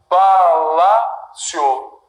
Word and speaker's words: palácio: Palácio. Tiago. Sílaba tônica, penúltima.